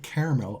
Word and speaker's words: caramel: And now onto the salted caramel, or as you say, the caramel. No, not me. Rochesterians. A lot of Americans say caramel. Caramel? Caramel. Like there's no second A.